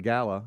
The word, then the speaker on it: gala: birds charity uh Gayla Gala how do you say that you can say it two ways I hosted one they said you can take it say it both ways but really yeah I